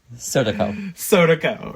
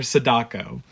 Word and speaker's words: Sadako: Sodako or Sadako, depending on the pronunciation.